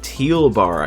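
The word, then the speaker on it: Thielbar: in a new arm caleb teal bar i think that's how it's pronounced right it's a silent h oh well never mind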